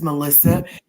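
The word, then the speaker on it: Malysa: My name is Melissa. M A L Y S A. If you flip it around and pronounce it again, it sounds like asylum.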